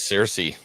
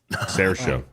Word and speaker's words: Saoirse: I've been pronouncing it wrong. I thought it was Cersei. Sarah show.